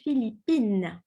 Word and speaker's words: Philippines: You have to pronounce the N and the E, Philippines.